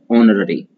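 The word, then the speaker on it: honorary: ऑनररी मतलब अवैतनिक, इसमें एच साइलेंट होता है और फिर पढ़ते हैं ऑनररी।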